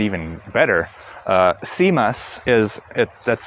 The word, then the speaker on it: CMUS: CMUS, that's spelled C-M-U-S, is a command line interface music player, and that runs perfectly on this.